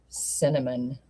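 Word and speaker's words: Synamin: Honest to God, she named her S Y N A M I N, pronounced cinnamon spicy.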